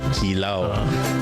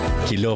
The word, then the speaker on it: kilaw: Kilaw or as the science pronounce it kilaw or kilaw for the Tagalogs and kilo for the Kapampangans.